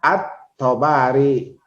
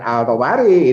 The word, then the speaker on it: At-Tabari: Ini Qadi Abu Thayyib At-Tabari. Jangan Al-Tabari, ini kan Samsiah ya, alif lam Samsiah gitu.